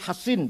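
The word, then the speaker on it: حصين: Bisod ya, Hasin. Kalau Sin Husain bacanya. Kalau Sod Hasin bacanya.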